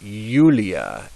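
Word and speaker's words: Iulia: pronounce those words now if the letter i begins a word and the next letter is also a vowel then the I is pronounced like a y um if it's if it's followed by a consonant it's just pronounced I but if it's followed by a vowel it's pronounced y so yunia and Yulia and Julius so uh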